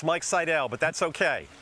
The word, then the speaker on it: Seidel: Mike, and if I said your last name wrong, go ahead and correct me. It's Mike Seidel, but that's okay.